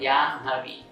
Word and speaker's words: Jahnavi: When you write a Jahnavi, but in the pronunciation it becomes Janhavi. There the Ma comes first, here the Na comes first.